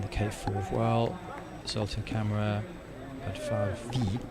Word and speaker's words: Bárdfalvi: Zoltán BÁRDFALVI, need to pronounce the V at the end.